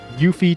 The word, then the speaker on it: Yuffie: Okay, it is Yuffie, thank God. If they called her Yuffie or something, I'd be like, hell no. Yeah. You always say Yuffie? That's wrong, Bojanka, that's wrong. Yuffie, Titus, Kate Sith.